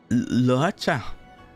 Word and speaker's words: Luocha: Luocha. I'll try to pronounce that right.